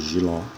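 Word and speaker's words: jiló: No mesmo caso de Giló, se separa com 2 sílabas, a sílaba tônica é a última e ela termina em O.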